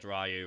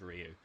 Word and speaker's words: Ryu: the band there's like Ryu and Street Fighter yeah how many rayus get thrown around there even like Street Fighter movies where it's stubbed and they said rayu instead of Ryu you know yeah it's